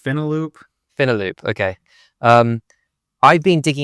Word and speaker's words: Finaloop: Speaking of finance, is it Final Loop? I don't know if you say pronounce it. I think it's Finaloop.